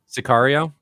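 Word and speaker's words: Sicario: Scario. Is that Sakario?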